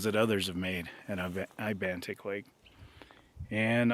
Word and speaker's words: Ibantik: others have made at Ibantic Lake and almost none of them said it right. In fact, one fellow YouTuber called it Ibentic all the way through his video. Ibentic Lake.